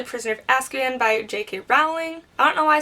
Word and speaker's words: Rowling: You know what, it could be either way because I feel like I hear people say Rowling and Rowling. I personally pronounce it rolling.